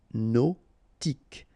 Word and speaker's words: hypnotique: Remember, at the end, Q-E, K, tic. So H is not pronounced. Hypnotique.